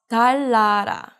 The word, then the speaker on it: 달나라: So this is not 달나라, but 달라라.